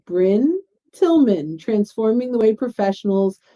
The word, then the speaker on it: Brynne: get brining br how do you pronounce your name and it's bryn tillman so i learned from a